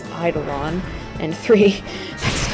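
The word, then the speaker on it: Eidolon: almost called them Adidelon, but that's one, that's the wrong pronunciation, and two, it's Idolon, and three, that's not what they're called in this game.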